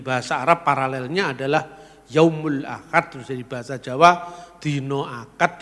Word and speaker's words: Ahad: dari bahasa Arab mungkin karena orang Jawa tidak bisa ngomong huruf H ya huruf H itu dia bacakan Ahad dibaca akad menentukan proses apa namanya